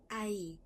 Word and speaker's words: ahí: Ahí. ahí. واضح ان الاتش هنا silent.